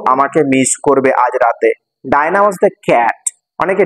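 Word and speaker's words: Dinah: হয় ডায়না খুব আমাকে মিস করবে আজ রাতে ডায়নাট অনেকে ডিনা বলে উচ্চারণটা উচ্চারণটা ডায়নাডটা বিড়ালের নাম ও পড়তে পড়তে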